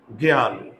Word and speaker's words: জ্ঞান: এখন আমি যদি বলি জ্ঞান দেখতো শব্দের প্রথমে আছে তাই না শব্দের প্রথমে যদি যুক্ত টা থাকে তাহলে আমরা গ জফলা চন্দ্রবিন্দু দেব এই যে চন্দ্রবিন্দু জফলা